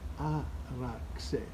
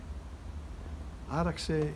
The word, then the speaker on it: άραξε: In the English language, usually they use the Z, the letter X, to pronounce the Z. You know, when they write a Greek word, the letter X, in English you pronounce it as Z, which is incorrect. So this is the X.